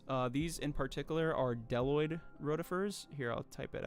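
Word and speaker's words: bdelloid: Uh these in particular are deloid roifers. Here, I'll type it out. Deloid roifer. The bee is silent.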